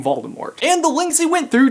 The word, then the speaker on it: Voldemort: of all time Voldemort you pronounce the T is it Mort or more I just feel pretentious saying more so I'm saying Voldemort and the links he